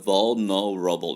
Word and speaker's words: vulnerable: 그래서 vulnerable 이렇게 발음하기가 힘들다는 것이죠. 그래서 L 사운드는 그냥 contraction 축약시켜 버립니다. 그래서 거의 vul에서 L 사운드가 없습니다.